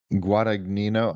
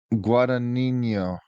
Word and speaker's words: Guadagnino: 2024 romantic sports drama directed by Luca Guada Guadagnino.